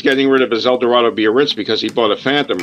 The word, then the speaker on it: Biarritz: And it says, you know, it's an El Dorado Biarritz. I'm not sure how to pronounce that. Biarritz. This is Biarritz.